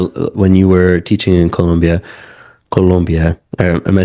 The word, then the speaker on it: Colombia: No, I mean, so what, because you briefly mentioned it where when you were teaching in Colombia, am I saying it right? Yeah, I'm yeah, not, yeah. We go. Colombia.